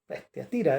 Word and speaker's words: Tiatira: decir intimidad luego está la de tatara la tiatira O tiatira es lo como se pronuncia Y esa es la